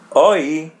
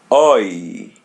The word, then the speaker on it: oi: Oi. Oi. Oi. To pronounce letter I or E in Portuguese as Y.